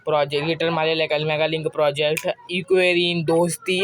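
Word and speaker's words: Ekuverin: कभी पूछ लेता है, एक्वेरिन। अब जो इसका प्रोनाउंसिएशन है, स्पेलिंग में लिख देता हूँ, EKUV ERIN इक्वेरिन करके यहाँ पे जो इक्वेरिन करके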